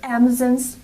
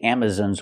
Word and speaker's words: Amazon: Amazon's Warehouse Amazon's Warehouse the word is not pronounced Amazon it's pronounced Amazon Amazon use the open Sound a on Amazon we cannot say Amazon it's Amazon it's important because this is a stress syllable Amazon we have a stress on the first and third syllable so it's important to pronounce them correctly Amazon Amazon's Warehouse example